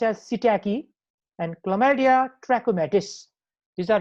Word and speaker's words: psittaci: Mycoplasma pneumoniae, chlamydia species like Chlamydia pneumoniae, Chlamydia psittaci, this is pronounced as psittaci, and Chlamydia trachomatis.